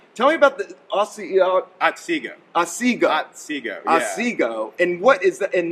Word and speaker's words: Otsego: I wanted to make sure I pronounced. Tell me about the Otsego. Otsego.